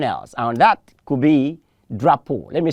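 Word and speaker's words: drapeau: we're having that experience people will say drop you please it's not drop you it's drop pole the p-e-a-u there is pronounced as o and so you say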